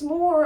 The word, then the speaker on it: Moore: And she said, Miss Moore, I just realized your name rhymes with bore.